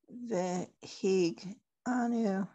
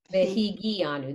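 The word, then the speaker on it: וְהִגִּיעָנוּ: Baruch ata Adonai Eloheinu melech ha'olam shehechanu v'ki yamanu v'hig anu. Right? V'higi anu. That one actually has an extra syllable.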